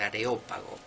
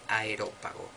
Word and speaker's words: Areópago: de pseudo dionisio areopagita y no es a hero pajita que a mí me ha pasado mil veces de pronunciarlo así para pronunciar los rápidos que es areopagita del areópago no del aerópago areópago dos libros teología